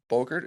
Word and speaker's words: Bogert: Hey everybody, it's Tom here with Hidden Beats, and today we have Josh Bogert. Is that how you pronounce your last name? Yeah, Bogert rhymes with yogurt.